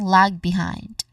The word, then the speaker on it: lag behind: Again lag behind. Stress is on the second syllable of behind which is hind. Again this is lag behind.